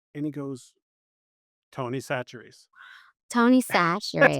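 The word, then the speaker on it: Tony Chachere's: Can you pick me up some of that tunica cherry?" And he goes, Tony Satchery's. Tony That's Satchery. how badly they Man.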